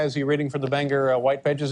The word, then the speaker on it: Bangor: town is actually pronounced Bangor. Bangor, B-A-N-G-O-R. There you get your ban and your gore.